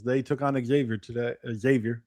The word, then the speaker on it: Xavier: Xavier, sorry, I I pronounce it like I'm from uh the South.